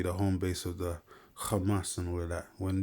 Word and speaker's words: Hamas: You know, they say hamas, but really you're supposed to say kamas.